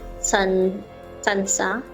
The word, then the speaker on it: tsantsa: The head is basically looks like a sansa, It's spelled as TSANTSA.